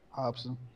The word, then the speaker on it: Robson: Man, that's the actual pronunciation for his name. Oh, that's how you pronounce it? Oh, okay, my fault. Yeah, you know he Brazilian. Yeah, true. He, yep. Speaking that Portuguese over there.